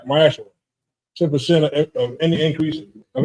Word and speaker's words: ma'aser: Means 10% in Hebrew and it's pronounced ma'aser.